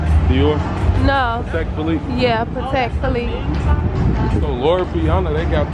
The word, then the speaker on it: Patek Philippe: Pronounce that. Dior? No. Patek Philippe? Yeah, Patek Philippe.